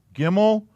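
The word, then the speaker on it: גימל: if that matters oh that didn't help a gimmel i think it's i think it's eo yeah gimmel and that's a g aleph bet gimmel and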